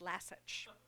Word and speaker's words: Lassich: And she would say, just think like the dog Lassie and Lassie itches. Lassich.